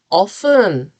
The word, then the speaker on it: often: often 얼마나 자주인데 t가 silent가 아니에요. 묵음이 아닌데 우리는 often으로 발음하지 않아라고 배웠단 말이에요. 근데 아니죠. 원어민들 보면 often 쓰는 사람들 되게 많아요. 네, 여러분들도 참고하세요.